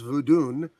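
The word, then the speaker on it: Vodun: what we know uh Voodoo which is actually pronounced voodun he's African in origin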